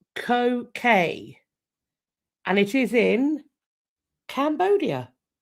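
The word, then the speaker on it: Koh Ker: Today I am going to be sat in front of a place called Ko Kay, and it is in Cambodia.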